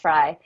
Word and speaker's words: Frey: It's actually pronounced Fry.